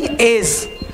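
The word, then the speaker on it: edge: है, साइलेंट होता है, तो इसको हम लोग एडस नहीं एज, है ना, डी क्या हो गया, साइलेंट यहाँ पर हो गया।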